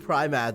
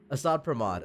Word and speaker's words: Asat Pramod: I didn't know how to pronounce that. I think I was saying Primad the whole time for some fucking reason. There's no I. Asat Pramod.